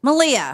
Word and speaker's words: Malia: Malia.